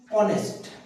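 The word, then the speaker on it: honest: है, जैसे कि देखो यहां पर लिखा है मैंने ऑनेस्ट, डी के बाद एच, एच होता है साइलेंट हो जाता है। और यहां पे ह नहीं बोल रहा है, एच का प्रोनाउंसिएशन ह होता है, लेकिन यहां पर मुझे ह नहीं बोल रहा हूं मैं।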